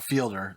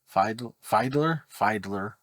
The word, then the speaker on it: Fiedler: It's not Fielder, it's Fiedler. It's kind of weird pronunciation.